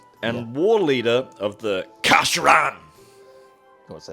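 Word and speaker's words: Kha'Sheran: He is a chaos sorcerer and war leader of the Kasharan. Do you want to say that again properly? Kasharan.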